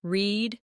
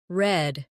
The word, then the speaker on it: read: Or the word read. It can be pronounced as read or read depending on the tense.